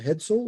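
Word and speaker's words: headsail: it's going to have a sail on the front called a head sole or a jib and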